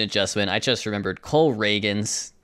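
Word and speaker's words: Cole Ragans: and make this trade oh by the way pronunciation of adjustment I just remembered Cole reagin not Cole Ragin I know that but I it reads more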